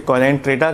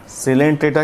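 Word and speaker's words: Coelenterata: Porifera के बाद सिलेंट्रेटा, बहुत सारे लोग उसे कोलेंट्रेटा कहते हैं, नहीं, यहाँ पर ओ साइलेंट है, सिलेंट्रेटा कहलाएगा। और फ्री लिविंग प्लैटीहेल्मिन्थेस, प्लैटीहेल्मिन्थेस।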